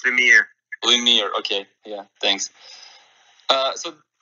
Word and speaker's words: Lemire: Well, because I'm French speaking, it's Lemire.